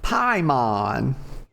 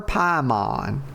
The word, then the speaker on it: Paimon: Paimon. I'm calling her Paimon. Okay. It's probably pronounced Paimon, but when I see an I, actually, I'm sure that I is probably supposed to be pronounced like a Y, but y'all know that